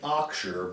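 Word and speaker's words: Auxier: that strange last name aux i e r we pronounce it axure but if you need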